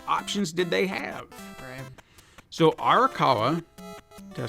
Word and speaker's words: Arakawa: gonna try to do this without up names arakawa I said it right Phillips managed one of